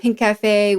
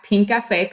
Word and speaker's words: Pinkafé: We're at Pinkafé. Pinkafé spelled without the C. So it's just Pinkfe.